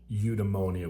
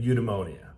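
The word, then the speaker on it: eudaimonia: ultimate goals happiness or emonia which I'm pronouncing incorrectly ly but udonia now for me I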